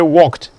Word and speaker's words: walked: Same thing with probably say walked, because the k is voiceless, and therefore you are saying walked.